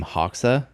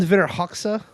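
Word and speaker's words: Hoxha: this guy by any chance was his name Haw I actually have no idea he just said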